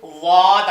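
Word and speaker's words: ض: வச்சுட்டா வந்து வாத் ஆகிடும். வாத் நுனி நாக்கு மேல் பல்ல இங்கே அதோடைய பல்லுடைய வேறு பகுதிக்கு போய் டச் ஆகும். அப்போ தான் அந்த உச்சரிப்பு வரும்.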